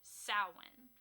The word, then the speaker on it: Samhain: who don't know and it is spelled funky and pronounced completely not the way it looks it is s a m h a i n but it is pronounced sin it is gelic and